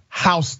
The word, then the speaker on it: Houston: update Houston excuse me hon it's spelled like Houston but it's hon County Georgia hon County Sheriff's